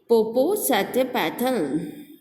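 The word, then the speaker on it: Popocatépetl: जैन कहते हैं मैं जानता हूँ, जैने कहते हैं मैं जानता हूँ इसे कैसे प्रोनाउंस करते हैं. इट इज़ पोपोसेटपेटल.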